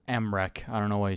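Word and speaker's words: Mrekk: Mere, pronounced Mrech.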